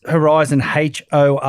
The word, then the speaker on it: Horyzen: And it's Horyzen, Horyzen. Zen. Zen. Horyzen Active.